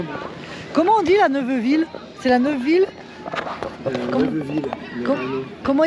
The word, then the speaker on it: Neuveville: Comment on dit la Neuveville? C'est la Neuveville? Neuveville. Comment ils prononcent? Alors, eux, ils appellent ça la Neuville. Ah, la Neuville, voilà, c'est ça.